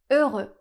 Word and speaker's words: heureux: Ici, le mot commence par un H et en français, on a beaucoup de mots qui commencent par la lettre H. Mais cette lettre est toujours muette. On ne la prononce jamais. Donc ici, la lettre ne fait aucun son. Ensuite, on a les lettres EU qui ensemble font le son /ø/ eux c'est un /ø/